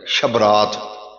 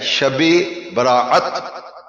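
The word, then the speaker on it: شب براءت: کا معنی بھی رات۔ تو یہ لفظ اس کا تلفظ ہی غلط ہے، شب رات۔ شب کا معنی بھی ہم کہتے ہیں شب رات، شب کا معنی بھی رات اور رات کا معنی بھی رات۔ اصل لفظ کیا ہے؟ شب براعت، شب براعت، یہ دو لفظ ہے، شب اور براعت۔ ہم نے اسے ملا کے غلط تلفظ دے دیا، شب رات کہہ دیا، اصل میں ہے شب براعت۔ براعت کا معنی ہے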